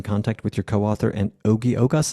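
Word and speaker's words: Ogi Ogas: with your co-author and oie ogos is that how you say his name yeah that's it's oie he approached me in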